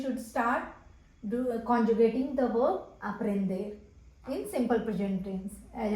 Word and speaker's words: aprende: E is pronounced as a. So o-s-a. A-P-R-E-N-D-E. Aprende.